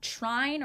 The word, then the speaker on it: trine: Um, the next one is that trine or train. It's t r i n e. Oh, I've heard it pronounced both ways, I think.